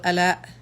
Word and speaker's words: Ala: It's Ala, right? Yes, you're Yes, correct.